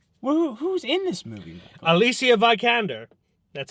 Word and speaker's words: Alicia Vikander: Alicia Vikander. That's how you pronounce it.